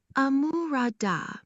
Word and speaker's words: àmúradá: Amurada, pronounced amurada, high, mid, low, high tone, essentially means rich or sufficient, implying something that brings completeness or readiness.